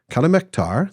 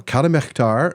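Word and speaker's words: Calimehtar: that EH that in Calamectar is pronounced like the German CH in Buch and other words like that.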